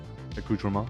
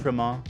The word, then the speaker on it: accoutrement: Accoutrement. You were right, yeah. You got it. Accoutrement.